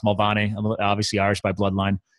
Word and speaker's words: Mulvaney: So Mulvaney over there, it's pronounced Mulvaney.